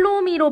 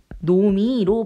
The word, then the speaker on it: 놈이: 그러니까 못 할 놈이 그러니까 할 놈이로 발음하는 게 아니라 할 노미로 발음하라는 거야.